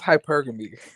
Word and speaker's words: hypergamy: Am I saying it right, Jeremy? No. Okay. How do I say it? It's hypergamy. Hypergamy. Oh Lord, I knew I was saying it wrong.